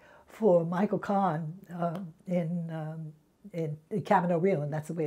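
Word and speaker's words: Camino Real: played Marguerite Gautier for Michael Kahn in in Cavan Oh real and that's the way it's pronounced it's not coming array all it's seeing it's the American camera no real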